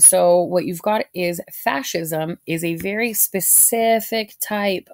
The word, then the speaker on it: fascism: next to it but it's really just pronounced like fash like fashion and then fascism and so the word